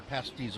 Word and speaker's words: pasties: You started out pronouncing them the way those Cornwall folks do, Bill. You said pasties, but then you kind of changed your pronunciation and started saying pasties. The former is how Brits would love it.